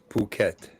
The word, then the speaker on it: Phuket: pronounced it all right it's pronounced puket okay okay that's what happens to cruel cat when he goes to the bathroom. Phuket.